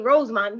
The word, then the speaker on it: Rosemond: KK ROSEMOND.